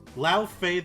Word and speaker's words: Laufey: Also, if you're going to bring up another character from another game, at least pronounce her name right. Laufey the Just.